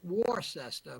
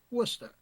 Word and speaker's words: Worcester: of Worcester uh some of you folks might pronounce it War sesta but it's pronounced Worcester which is about 30 miles away from Framingham